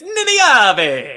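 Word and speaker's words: Nynaeve: her name i said her name wrong it's ninabe uh but i i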